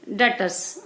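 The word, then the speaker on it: debtors: इसी तरीके से डेटर्स. आप देखें यहाँ पर स्पेलिंग आपकी जो है TEBTORS, यहाँ पर जो है बी साइलेंट रहता है.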